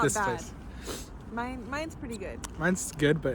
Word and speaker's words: Main: Mine, but it's spelled like Maine.